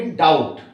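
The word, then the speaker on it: doubt: बी को silent छोड़ेंगे, डाउट।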